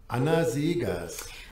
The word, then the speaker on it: Anna Seghers: by anna c siegers i did look up and try and pronounce that name correctly this is how uh wikipedia has it anazigas one other thing that